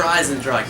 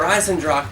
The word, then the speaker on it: Eisendrache: We also have Der Eisendrache.